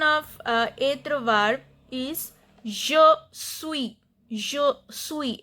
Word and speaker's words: suis: Conjugation of etre verb is je suis. Je suis. S is silent, means I am.